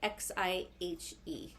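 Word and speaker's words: Xihe: look into this one it's spelled x i h e and then oh Jesus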